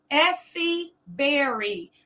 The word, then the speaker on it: Essie Berry: But what I don't want you to do is take my content off my page and you can't even pronounce my name. My name is Essie Berry. B-E-R-R-Y. Essie Berry.